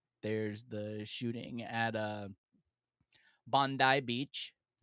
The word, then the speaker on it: Bondi: of Sandy Hook, there's the shooting at uh Bondi Beach. You pronounced it correctly. Bondi. Thank you. Thank you. It took me hours to get it down, but yeah, Bondi Beach.